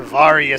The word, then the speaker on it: Varia: We are going to get back the Varia suit. Or Varia suit, depending on how you want to pronounce it.